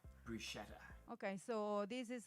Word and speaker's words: bruschetta: not the case like double t is double t so you should pronounce the pasta it's so